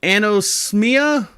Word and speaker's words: anosmia: Loss of smell, known as anosmia.